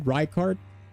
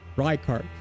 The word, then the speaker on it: Rykard: The name pronunciation is a sin. How do you say it then? Rykard? Rickard. Rykard.